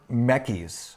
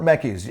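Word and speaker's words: Mekies: confusing to me because they say this is Lauren Mecky's. Okay it's Lauren Mecky's. I don't care what this says. No cuz you watch any F1 race and they call them Mecky's.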